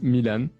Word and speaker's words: Milan: my name is um i'm going to pronounce this the french way my name is milan i'm an 18 years old boy soon 19.